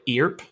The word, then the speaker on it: Earp: Charlie, did you pronounce the first name Wyatt Earp? It's Earp. Earp. I It's Earp. don't know.